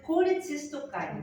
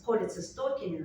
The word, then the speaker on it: cholecystokinin: Gastrin, yellow box, and cholecystokinin, CCK, cholecystokinin. There are two pronunciations possible.